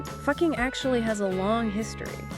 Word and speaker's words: Fucking: Fucking Austria. Yes, you heard that right. You know it's pronounced exactly how you think it is.